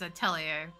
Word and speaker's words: Atelier: Like, it's not pronounced Atlier, it's Atelier.